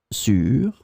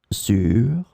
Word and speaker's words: sur: In this lesson, we will see together three words that are written differently but pronounced the same way. Sur, sur, sur.